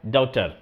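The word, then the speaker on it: daughter: डॉटर means बेटी दोस्तों spelling ये होता है और बोला जाता है डॉटर तो आई हैव अ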